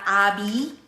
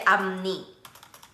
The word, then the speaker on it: 앞니: So that's why it's not abi, but we say 앞니. So pronunciation will be 앞니, front teeth, 아랫니, bottom teeth.